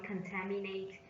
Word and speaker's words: contaminate: their vote contamination sorry contaminate stress on the second syllable and pollute also stress